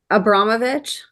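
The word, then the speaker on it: Abramović: Oh, Abramovich?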